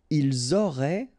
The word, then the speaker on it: ils auraient: Ils auraient, remember, ENT, you don't pronounce it, auraient, ils auraient, elles auraient.